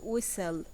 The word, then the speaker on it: whistle: write three words that have a silent T now we have listen we have castle and whistle write four words that